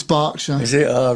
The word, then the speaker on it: Berkshire: It's Berkshire. It's Berkshire. Is it? Oh, right. Okay. That's how Her Majesty would pronounce it.